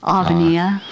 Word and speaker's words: Avenia: is a beautiful word Alania it's a great name and it has an accent on the eye so it is I'm